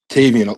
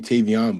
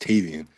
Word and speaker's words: Tavian: Tavian. So a lot of people around here actually call me Tavion, but it's actually pronounced Tavian.